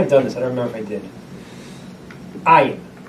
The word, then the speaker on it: ayin: Ayin. Ayin. So stop me if I might have done this. I don't remember if I did. Ayin. Ayin sounds like Aleph, right?